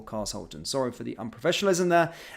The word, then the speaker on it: Carshalton: the pronounciation and uh they were saying car sholon okay car Shulton it looks as though it is it was is either that or cars Holton sorry for the unprofessionalism